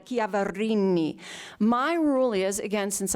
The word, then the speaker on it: Chiaverini: If you want to say Chiaverini, say it like that. You have to roll the R, say it like a true Italian, Chiaverini.